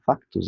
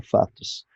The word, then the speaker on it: factus: Então, factus pronuncia factus e não fatus.